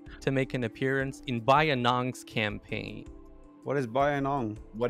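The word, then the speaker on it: Bayinnaung: only european civ to make an appearance in bayannong's campaign what is bayan what is that yeah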